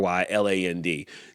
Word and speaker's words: Ryland: Ray Ray Ryland, I think it is. R Y R Y L- A N D. DK Ryland is the correct way to say that.